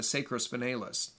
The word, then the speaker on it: sacrospinalis: But the deep layer is going to be the sacrospinalis. It can also be pronounced with a long A sound, the sacrospinalis.